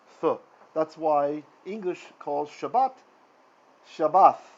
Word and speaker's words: Shabbat: american jews are ashkenazi german jews will say shabbas right shabbat right because there's no dot in there so that's why you don't need to do that we're always going to use the sephardic pronunciation in this class which is the spanish jewish pronunciation because that is what is used in the land of israel and for the sake